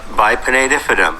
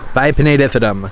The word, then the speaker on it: Bipinnatifidum: Let's see how they pronounce it. Philodendron Bipinnatifidum. Bipinnatifidum.